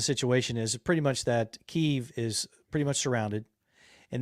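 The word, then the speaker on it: Kyiv: when we changed it they changed it because keeve is the way that the ukrainians pronounce it oh kiev is how the russians is the way the russians so they're i'm still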